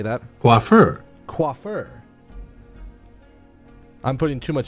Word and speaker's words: coiffeur: of moments, I give thanks for this splendid coiffer? Is that how you say that? That's a word I've never seen before. I mean, I understand what it means. Google, how do you say that? Coiffeur.